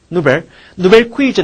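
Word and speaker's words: nouvelle cuisine: 그래서 거기 나오는 누벨이라고 발음하면 돼. 누벨 퀴즌 하면 새로운 요리법이야. 노벨 퀴즌.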